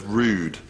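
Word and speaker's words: rood: mass would be performed the word rude comes from an Anglo-Saxon word meaning cross that's spelled r-o-o-d and above it is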